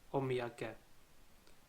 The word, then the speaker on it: omiyage: example have you heard of this word before omiyage in english it translates to a souvenir and it is written and pronounced as of me again if you look